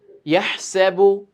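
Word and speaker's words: يَحْسَبُ: আচ্ছা, ইয়াহসাবু, এই যে এখানে অনেকেই হা এর জায়গায় হা পড়তে পারে। তো এই হাটা গলা থেকে আসবে।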